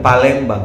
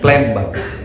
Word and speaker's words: Palembang: Bukan Palembang ya, Plembang. Itu pronunciation-nya Plembang.